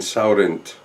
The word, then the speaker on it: Saurint: is 100 sauvignon uh what he calls the wine saurent that's how you pronounce the word it's 2010 and you